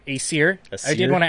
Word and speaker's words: Aesir: It's the AE is the ash symbol, the AE that are linked. So it's A, like, not long vowel A, but A, like, this is some good mead, A.